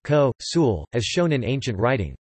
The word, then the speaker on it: consul: by the fact that in classical Latin an N before a fricative is pronounced as a nasalization of the previous vowel, meaning consul is pronounced ko tilde sul. Also, consul is pronounced ko sul, as shown in ancient